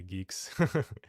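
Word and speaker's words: Guix: Have to pronounce things properly. Geeks.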